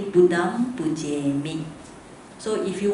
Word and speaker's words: Buddham: So when you recite, you should recite Buddham with the vibration here, okay? We call it nasal sound. Buddham Pujemi. You must put the or sometimes they got sound. As long as you got the vibration, alright?